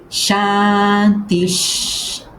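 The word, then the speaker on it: शान्तिः: Por isso eu leio chantis, chantis chanti que repara, permite-me ler tudo de forma fluída.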